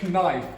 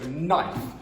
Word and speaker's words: knife: Now, this is a strange word because it's spelt with a K, knife, but we do not pronounce it, so knife.